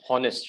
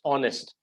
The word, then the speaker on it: honest: not pronounce it as honest right it's honest H is silent so the sound it